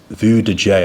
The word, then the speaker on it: Vujade: It's Vue de J, I think. It's basically, you spell it Vujade.